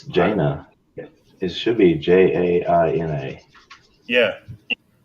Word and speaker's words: Jaina: It's Jaina. It should be Jaina. Yeah. Did I misspell it?